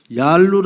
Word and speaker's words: 얄루: 볼 필요가 있다라고 봅니다 우리는 발음을 얄루 합니다 얄루 아는 발음이 한자로 음치는 과정에서 록이라고 된 것입니다 그리고 나서 우리는 록이라고